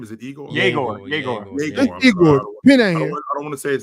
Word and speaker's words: Yegor: I'm not sure about this kid Igor. Is that his name? Is it Igor? Yegor.